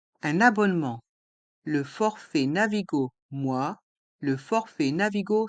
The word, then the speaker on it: mois: le mot moi les voyelles o et i se prononcent et le s est mué moi le forfait Navigo moi